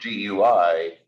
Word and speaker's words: GUI: we usually do for GUI pronounce that like the word gooey which I hope you